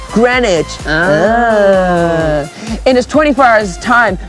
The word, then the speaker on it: Greenwich: home to the famous green witch editor i hope you don't mean the green witch jon it's okay look it's our mission look let's see what it says welcome to greenwich pronounced greenwich and this 24 hours